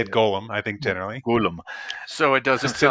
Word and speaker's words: Golem: Golem. So it doesn't Just to sound not like Lord of confuse the it Rings. with, The yes, precious. not Gollum. Don't pronounce it Gollum.